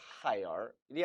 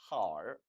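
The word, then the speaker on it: 孩儿: 따라서 hire이 아니라 her이라고 발음한다는 것도 역시 주의하시기 바라요. 따라했습니다.孩子, her, 孩子, her.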